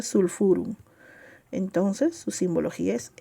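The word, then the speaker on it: sulphurum: Se escribe sulpurum, pero se pronuncia sulfurum.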